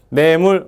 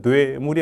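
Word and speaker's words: 내물: 한 왕이 노조 그렇죠 내 물 어 발음 잘해야 됩니다 뇌에 물이 아니고 내 문화 원래 내몰아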